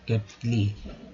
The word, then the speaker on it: केटल: केटल, केटल means होता है केटली, ठीक है, TLE को ल बोलेंगे तो केटल, केटल मीन्स केटली।